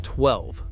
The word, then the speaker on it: 12: Number 3, the Avatr 12. Now we're getting into the "are we in the Matrix" territory. This is the Avatr 12, pronounced 1-2, and it is easily the most polarizing futuristic sedan on the planet.